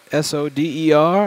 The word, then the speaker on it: solder: Let's get some solder, S-O-D-E-R, on that center pad. A little bit of solder. Soder, pronounced like Hodor from Game of Thrones.